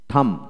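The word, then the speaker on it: thumb: তারপর আসেন টি এইচ ইউ এম থাম থাম, বি হবে না, থাম থাম।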